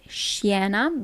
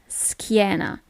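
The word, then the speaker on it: schiena: you don't pronounce it Sheena but skiena okay normally when you have a c h i the sound is always it's never CH it's k okay it's so hot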